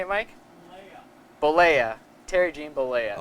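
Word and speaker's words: Bollea: Bolea.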